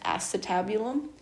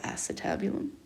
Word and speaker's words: acetabulum: know it is pronounced acetabulum and um the way that i remember that is it's close to your ass so acetabulum the other structure of